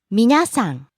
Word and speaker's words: 皆さん: Next, 皆さん。 everyone, みなさん。皆さん。 rising on the second syllable na, falling on the second to last syllable sa. 皆さん。